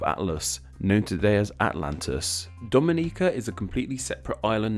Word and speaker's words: Dominica: names look the same they're actually pronounced differently with Dominicans from the Dominican Republic the me syllable is stressed while Dominicans from Dominica